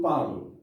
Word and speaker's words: parles: For example, like here, we have S here, but we do not pronounce the S.